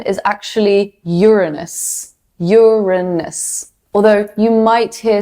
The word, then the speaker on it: Uranus: The correct pronunciation is actually Uranus.